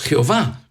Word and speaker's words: Jehová: del nombre de Dios, YHVH, Yud-Heh-Vav-Heh, que es el nombre tetragrama que pronunciamos Jehová, bendito sea ese nombre.